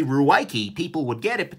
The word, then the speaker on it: Ruike: On the bad side, look, this is not pronounced rake. I'm sorry, there is no way that you can torture the English writing system into pronouncing this rake. Given, certainly the people who named this do not speak English, that's fine. But no, people will be calling this Ruike or Rike or something like that.